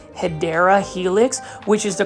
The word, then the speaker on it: Hedera helix: here plant foldies I just picked up a hedra helix and as you can see right here beautiful